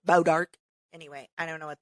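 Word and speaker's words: Bois d'Arc: weird day pares Missouri it's probably like bow dark which is spelled like b-o-i-s-d-a-r-c but it's it looks like boys dark but it's bow dark anyway I don't know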